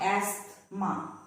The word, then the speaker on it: asthma: Some common random words where the T is silent. Asthma. It is not asthma, but asthma. Christmas, mortgage, soften, often.